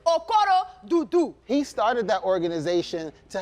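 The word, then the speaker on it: Okorodudu: Okurududu, how do you say that? Okoro-dudu. Nice, You know, nice, I'm nice. Haitian, so you know, Africans and Haitians are like cousins. So it's Okoro-dudu.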